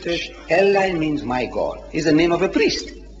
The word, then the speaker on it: Eli: Not Eli. Eli. Eli, all right. Thank you. You see now, you pronouncing like a European. Yeah. I'm pronouncing like a Jew. Because I'm nearer to the Jew. I'm nearer to the Jew in my language. Arabic and Hebrew are sister languages. So I say Eli.